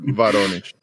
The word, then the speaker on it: Voronezh: Sí, Voronezh, sí. Voronezh. Tú que has estado allí, seguro que lo pronuncias mejor que yo. Sí, bueno, ellos pronuncian Voronezh. Voronezh.